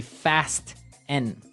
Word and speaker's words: fasten: It's spelled f a s t e n. Right. So, it would be fasten. No. No. Right. Fasten. Fasten. The t kind of becomes silent.